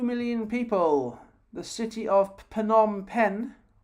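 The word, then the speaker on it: Phnom Penh: people the city of panom pen I think it's pronounced penom pen the city of panom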